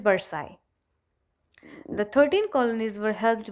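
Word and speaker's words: Versailles: Huge palace, it वाज इन वर्साइल. Okay. वैसे इसमें ये वर्साई होना चाहिए बिकॉज जो LLES है that has टू be silent as in French language. So इट इज़ वर्साई.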